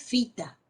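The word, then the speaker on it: phyta: algas, la terminación es fita, ¿sí? Acá tenemos pH, Y, que se lee pH con F, se la pronuncia como F. Fita.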